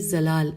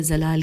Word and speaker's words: زلال: میں داخل ہوں گی۔ کتب زلال کیا یہ ہجے کر لیتے ہیں، زواد سے شروع ہوتا ہے، زلال، زواد لام الف لام، زلال میں داخل ہوں